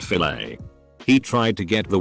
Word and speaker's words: filet: She means the fillet. Obviously. Ha ha ha. Then he wouldn't shut up about it. I was like, it's French. The et sound is pronounced a, but he wasn't having it.